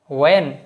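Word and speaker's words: when: এটা উচ্চারণ কিন্তু হোয়াই না, হোয়াট না, হোয়েন না, হোয়ার না, হোয়াট, ওয়েন, ওয়ার।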